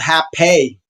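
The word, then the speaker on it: rapé: medicine and what's called hape. It's spelled like rape, R-A-P-E, but it's called hape.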